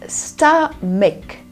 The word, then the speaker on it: stomach: Stomach. Okay, not that. It's stomach. Stomach. The CH sounds like k, not ch. Stomach.